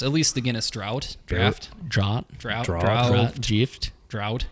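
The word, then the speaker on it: Draught: over there I have a can of guinness drought draft draft it's spelled d drop there's nothing ght there's nothing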